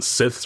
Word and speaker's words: scythe: Or even like a one of those with the scythes or one of those things that like the like a sickle.